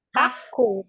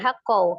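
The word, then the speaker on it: حَقٌّ: Inna wa'dallahi haqqaw walayastah Hakku, doma tanwin ya. Doma tanwin, hakku bukan hakkau, hakku.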